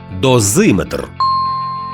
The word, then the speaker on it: дозиметр: запам'ятати ще один нюанс якщо компонент метр містить назви вимірювальних приладів то наголос там незмінно припадає на голосний звук що передує цьому компонентові барометр спідометр термометр дозиметр А тепер уважно послухаймо